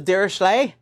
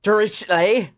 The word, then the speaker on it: Dirichlet: Depending on how you want to pronounce his name, I'll pronounce it as Dirichlet or Dirichlet.